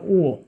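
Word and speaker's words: ঙ: একটু বলি যে এখানে আছে ক থেকে শুরু করে একদম উঁ পর্যন্ত, এটাকে বলে উঁ, অনেকে উমো বলে, এটা উঁ উচ্চারণ হবে।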